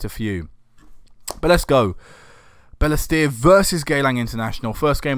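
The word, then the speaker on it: Balestier: my phone here because it's not pronounced how I been pronouncing it I've got a list up of locations in Singapore bear Leicester Bella steer sorry there you go I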